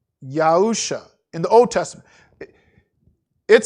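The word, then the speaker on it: יהושע: the word joshua in the old testament it's pronounced yahusha in the old testament it says joshua in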